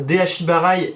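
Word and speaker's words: de-ashi-barai: Donc, vous pouvez entendre Deashi-barai et Deashi-arai aussi, puisque vous savez en japonais, la place du mot a une importance, elle change la première lettre, en tout cas au niveau de la prononciation.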